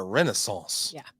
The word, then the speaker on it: renaissance: Renaissance. You have to say it like that. You got to say it like that. It's like French. Croissant. You croissant can't say and renaissance. Basically, you just don't finish the word. That's how you speak French. You just let it trickle off.